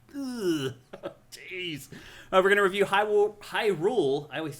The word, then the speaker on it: Hyrule: I knew a kid in in grade school who called it Herule. Oh, really? And we're like, that's definitely not how you pronounce that.